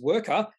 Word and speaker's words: Wrkr: speak, and he calls this company, or he pronounces this company as Wrkr, W-R-K-R, which does give a slight clue about what this company does.